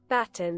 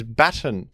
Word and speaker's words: baton: set the record straight baton pronunciation Google baton British English baton baton you see what I'm saying it turns out that in in other countries sometimes they pronounce words in a different way people are calling me